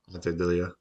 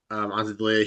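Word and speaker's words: Ante Delija: Ante D'Elia. Yeah, Ante D'Elia.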